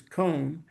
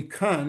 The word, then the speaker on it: Cohn: comes up, and he doesn't know how to pronounce my name, which is Cohn, and he calls me Kun, and he says, are you Kun?